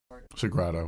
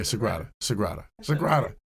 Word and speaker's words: Sagrada: So, Sagrada, whatever. Yeah, there's an R in there. Yeah, Sagrada. It's an A.